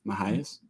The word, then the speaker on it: Mejias: Because no, it has MEJIAS. So it's like Mahias Sanctuary Farm.